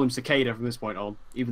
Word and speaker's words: Cicada: series of the season 5 Big Bad is secada which it's actually pronounced cicada which I didn't know yeah I sparked say